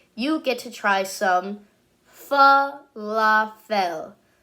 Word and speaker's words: falafel: Falafel.